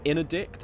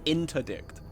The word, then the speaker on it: interdict: In some people pronounce in addict. That makes no sense. Why would people pronounce it like that? In addict. Why? What? But that's like where's the T? It's interdict.